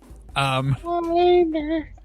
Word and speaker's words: Weiner: Weiner. It's pronounced Weiner.